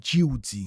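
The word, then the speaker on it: Djehuty: L'école de Tot en gros, il l'appelait Jouti. C'est une autre manière de parler de Tot. C'est le même personnage mais c'est une autre façon de dire son nom.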